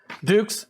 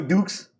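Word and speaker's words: Dux: You ever heard of the expression, put up your dukes? I was wondering if perhaps it's a nickname. I am a ranger. My name is spelled D-U-X.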